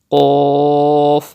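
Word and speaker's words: ق: You have to pronounce Qaf with thicker voice, because it is also from Mustalia letters. Qaf, like this.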